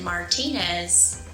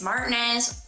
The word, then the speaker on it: Martinez: finally let's talk about martinz you might have pronounced it Martinez but NOP around here it's Martinez why no one knows but it's just one